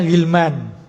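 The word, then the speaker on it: غلمان: Ini bacanya ghilman.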